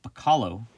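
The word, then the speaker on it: Bachalo: lobdell and chris uh bacallo i believe is how he pronounces his name i messed it up last time but i think that's it and inked by mark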